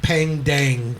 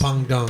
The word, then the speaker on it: Peng Dang: So it looks like Pang Dang, but it's Yes. pronounced Pang Dong, right?